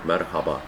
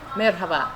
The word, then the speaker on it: merhaba: should you know uh pronounce the h a little louder Marhaba merhaba mhm number two we